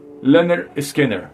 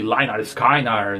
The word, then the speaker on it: Lynyrd Skynyrd: primeiro disco aqui ó chamado pron liner Skinner ou seja pronunciando liner Skinner né então o nome foi bem sugestivo porque tinha essa confusão de linar skiner então o nome chamava chamava né batizar o o disco de pronounce Lun scanner já justamente pras pessoas saberem como que é a pronúncia da banda e